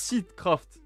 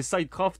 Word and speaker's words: Seedcraft: Ça se prononce sitcraft. Ça rend le manga encore plus mauvais pour moi. Je peux pas me résoudre à l'appel comme ça là. Pour moi, c'est Scraft et ça restera jusqu'au bout.